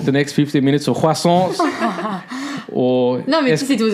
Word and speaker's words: croissant: Choose out a selection of croissants, right? Croissant. The T is silent.